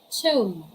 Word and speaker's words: tomb: examples we have these examples we have home bomb thong climb tomb prom and lamb what are the other english words you know having this first rule when it comes to silent letter b come on share your